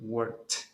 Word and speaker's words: worked: Worked. Ahora, vámonos con los que sí tienen vibración. Answer. Vibración. Answered. Van a pronunciar la D.